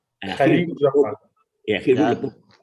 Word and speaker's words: Khalil Gibran: Now here's another famous statement from how to pronounce his name? Do you know him? Khalil Gibran. Khalil Gibran.